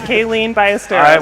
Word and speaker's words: Kaylene Ballesteros: Like you got it, Kaylene Ballesteros.